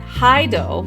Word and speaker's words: Hyde: And then Hydo, which is spelled Hyde, is the name of the lead singer of Larkin Shell.